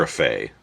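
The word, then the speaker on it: Grefé: William Greffey? Greffey? How do you say that, Brian? Greffey.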